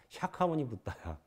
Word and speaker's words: 샤카모니붓다: 나중에 공부하다 보니까 본래 부처님이 석가모니불이 아니라 샤카모니붓다야. 본래 발음이 나오대 이상하게 산스크리트 발음이.